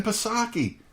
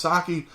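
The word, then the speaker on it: Psaki: him lie about everything jenn pasake her name is pronounced sake but jensaki sucks we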